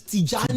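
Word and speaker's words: Tijani: They tell you to pronounce his name. That's what the team does. And I heard his name is Tjani.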